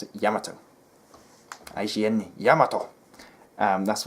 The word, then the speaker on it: Yamato: then suddenly a staff member said actually it's pronounced Yamato and that just killed me on the inside